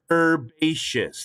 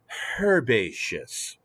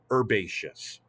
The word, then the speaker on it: herbaceous: we pronounce this word herbaceous the h is silent if we speak american english however if you speak